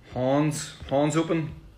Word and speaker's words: Hands Open: Hands Open, like Hans Open, which is a Northern Irish pronunciation.